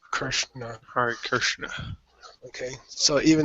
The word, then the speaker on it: Krishna: Just you have to be aware that the correct pronunciation of a vocalic R is I-R, not R-I. You don't say Amrita, you say Amrita. You don't say Krishna, you say Krishna.